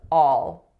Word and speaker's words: all: So the first one is all, all. So the vowel there is a low back ah sound.